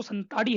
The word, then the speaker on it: संताली: है इन संथाली संथाली जैसा कोई शब्द नहीं है बल्कि मुख्य शब्द जो है वह संताली है और देवनागरी भाषा में